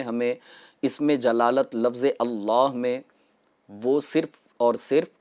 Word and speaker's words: اللہ: کو شامل کریں گے۔ پہلی غلطی یہ ہے کہ لفظ اللہ کو اللہ کہہ کر پڑھنا، یعنی صحیح جو تلفظ ہے وہ ہے اللہ۔ یہاں اس میں جلالت میں لام مشدد بھی ہے اور اس کے اوپر کھڑا زبر بھی ہوگا، تو اس کو 2